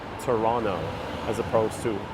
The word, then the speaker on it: Toronto: Canadians pronounce it they the second T is silent Toronto as opposed to Toronto I arrived just yesterday